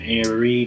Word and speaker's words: Arie: He's also related to another family called the Arie family, which is spelled A-R-I-E. his name is Ari, so there's an extra E.